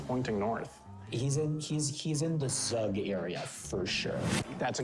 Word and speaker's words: Zug: I kind of want to send them up towards Zug, so I'm gonna try that. Oh, we got an answer. All right, Rug? Rug. So that rhymes with Zug, which we know.